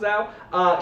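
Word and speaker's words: Zawe: The name is Z-A-W-E. I think it's pronounced Zhao.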